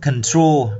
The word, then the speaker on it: control: Chúng ta có từ control, đọc là control. Tro có nghĩa là tr, giống cái âm tree và nãy hay trip đấy, thì là tro, chúng ta đọc là tro, control.